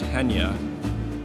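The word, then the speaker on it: Chania: is beautiful we're about 45 minutes outside of hanya it's spelled kenya but pronounced henya and it's glorious view of that turquoise sea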